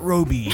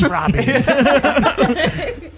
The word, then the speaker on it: Robbie: Everyone mispronounced it Roby, but it's Robbie.